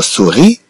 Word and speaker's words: souris: En prononçant le mot souris, on n'y entend pas le son si.